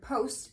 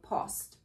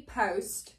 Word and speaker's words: post: they say past or post don't do that it's post and the american version of this diphthong starts with a rounded o sound so don't say post or something like that